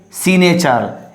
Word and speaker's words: signature: And signature, so don't say signature, it's a signature.